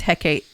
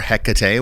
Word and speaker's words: Hecate: Over time, I've worked with Hecate. Yes, this for is a long time, or Hecate, whatever way you want to pronounce it.